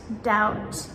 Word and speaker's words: doubt: So the general rule for the silent B is in words like debt, doubt, and subtle, the B comes before letter T. So we pronounce the T, but we do not pronounce the B.